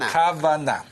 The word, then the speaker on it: kavana: We have the dot in the right letter. Which means we pronounce it as K. K. So it will be like Kavana.